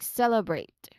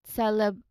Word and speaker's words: celebrate: celebrate, something like that, you move directly into the BR blend for the next syllable, like celebrate. Okay? Celebrate. Okay? So it's a continuous B to R sound, not celebrate. Okay? Not like that.